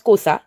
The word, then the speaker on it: Xhosa: On prononce Kosa.